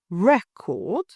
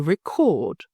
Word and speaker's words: record: session for future reference in the first example the stress is on the first syllable record in the second it shifts to the second syllable to record if you stress the